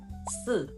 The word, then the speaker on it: 四: In Mandarin Chinese, the word for number 4 is written as 四 and pronounced 四. And if you say that out loud, 四, it sounds remarkably similar to the word for death, which is written as 死 and pronounced 死. The main difference is in something called tones.